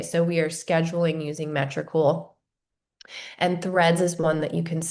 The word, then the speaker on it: Metricool: If not, write down Metricool. It is my favorite scheduling tool. It's spelled just how it sounds, METRI, cool.